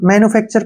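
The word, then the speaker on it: manufacture: के रूप में करेंगे टीय को हमने च पढ़ना है ध्यान रखिए टीय को च पढ़ना है और आर का उच्चारण च करेंगे मैनर क्या पढ़ेंगे इसको मैनु फैक्चर मैन्युफैक्चर का मतलब होता है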